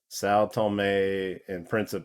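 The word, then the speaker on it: São Tomé and Príncipe: you zoom in on it and when you pronounce it told saltome and principes that's how you say it they're going to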